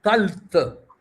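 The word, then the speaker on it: ܩܛܠܬ: Ktalt. So that second case, for the second person, the final tav is always hard.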